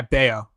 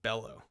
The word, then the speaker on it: Bello: Yeah, Beo. I was pronouncing it Bellow.